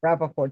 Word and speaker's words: Rappaport: Rappaport, just like it sounds. Rappaport, just like it, yeah, just like it looks.